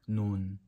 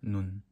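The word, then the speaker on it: 눈: And when this means snow, you have to say this longer, like noon. But when this means eye, you have this pronounced shorter, like noon.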